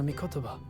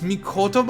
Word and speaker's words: Mikotoba: to have that conversation with professor mikotoba it's me kotoba i've been saying it wrong for two whole games you know back to